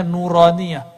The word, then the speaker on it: nuraniyah: tuh kita kasih nama nauraniyah itu bacanya nuraniyah huruf-huruf cahaya dan dulu